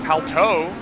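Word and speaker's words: Palou: felix Rosenquist and then alex pelt Oh apparently is the correct way to pronounce that I was told in YouTube chat guys so just FYI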